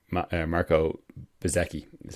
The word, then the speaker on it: Bezzecchi: The guy whose name, who I hadn't heard of and couldn't pronounce correctly last time, it's actually Marco Bezzecchi, as you pronounce it.